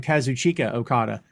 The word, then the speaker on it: Kazuchika Okada: By the way, supposedly Okada pronounces his name Kazuchika Okada, is how the man himself pronounces it.